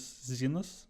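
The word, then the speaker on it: Xenos: I recently knew that the correct pronunciation is Zenus, but I am not used to it.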